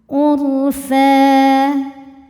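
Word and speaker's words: عُرْفًا: Wal mursalati ur, huruf ra sukun dibunyikan secara tafkhim karena harokat sebelumnya dhammah. Cara bacanya ditebalkan ro-nya. Urfa, saat berhenti di fa hukumnya adalah mad iwad karena ada baris tanwin fathah yang diwaqafkan. Cara bacanya baris 2-nya ini jadi 1, jadi fathah dan panjangkan 2 harokat. Urfa.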